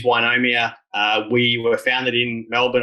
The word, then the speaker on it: Ynomia: chance to pitch today the correct pronunciation is is wynomia we were founded in